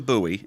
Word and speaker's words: Bowie: with that one here then so um jim bowie is how it's pronounced but it looks like bowie uh the